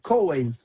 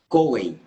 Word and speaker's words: Cohen: Coen, Cohen, Coen.